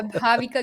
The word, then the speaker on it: Bhaavika: Bhavika. Did I say it right? Yeah, yeah. Bhavika.